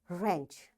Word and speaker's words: wrench: Wrist, wrestling, wrong, ran, wrinkle, rack, wrap, wrench. You see, in all these words, because W is followed, after W there is R, so we don't pronounce this W.